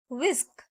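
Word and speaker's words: whisk: कट जाती है मथानी विस्क विस्क इसमें एच जो है वह साइलेंट रहता है इसलिए इसको कहा जाएगा विस्क कद्दूकस ग्रेटर ग्रेटर मक्के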